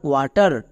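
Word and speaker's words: water: ডব্লু এ টি ই আর, ওয়াটার। সো এই ওয়ার্ডে কিন্তু ডব্লু সাইলেন্ট না।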